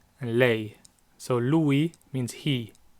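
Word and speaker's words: lei: or she is Louie lay so Louie means he it's two syllables Louie and I lay one syllable lay that's she Louie and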